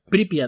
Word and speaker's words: Pripyat: Entonces había una ciudad o un lugar llamado Pripyat, en el que estaban Pripyat. Sí, con acento en la I. Pripyat.